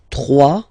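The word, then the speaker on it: trois: 3. Final S not pronounced.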